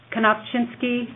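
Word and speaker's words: Knofczynski: kosinsky it's k n o f CZ y n s k i oh thank you get it just like it's spelled sounds just like um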